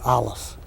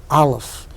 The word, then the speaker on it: Aleph: It is not, as most people mistakenly think, a silent letter. It is, as Gershom Scholem, the master historian of Jewish mysticism, points out, the sound that the larynx makes as it clicks into gear.